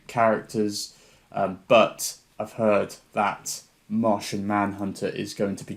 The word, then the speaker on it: Martian: But it sounded like you pronounced it Moshin. Moshin Manhunter. It's the Martian Manhunter.